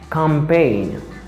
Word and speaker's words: campaign: the common word is campaign campaign i don't say campaign because the letter g is silent here remember but i say